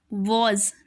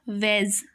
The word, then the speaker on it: was: Here the sound of A is changed, so we will pronounce it was, not was.